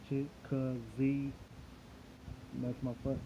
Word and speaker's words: Chicozie: It's Chica Z, like Chica Z. I broke it down so people can understand how to pronounce it. My last name, and that's it. So I'm thinking of syllables right now. So I've broken down into 3 syllables.